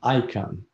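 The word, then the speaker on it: Icahn: yes yes all right next on the list card you pronounce his last name i can carl cillian icon is the last name spells i-c-a-h-n yes he incarnated at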